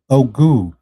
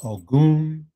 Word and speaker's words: Ogun: Tonight, we want to talk about, introduce to some, reintroduce to others, the conversation about Ogu, the power of Ogun, Ogu, depending on your pronunciation and what lineage you are practicing, across the Atlantic world from Ouida to New Orleans.